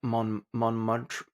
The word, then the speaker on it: Montmartre: Christian arrived in Montmartre. Ooh, How do you pronounce that French district?